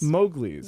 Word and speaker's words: Mowgli's: check in with those so how do you pronounce the band name again mouth the Mowgli's Mowgli's yes all right cool I'm gonna hear them